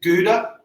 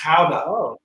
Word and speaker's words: Gouda: have you heard of powder yeah you probably pronouncing Gouda Gouda yeah I have it I have to